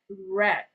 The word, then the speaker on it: read: Then the read has to pronounce as red.